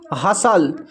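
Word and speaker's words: hustle: तो अब देखिए यहाँ पर TLE एक साथ है, यहाँ पर भी टी साइलेंट है, तो इसको पढ़ते हैं ब्रिसल, इसको पढ़ते हैं कसल, इसको पढ़ते हैं हसल।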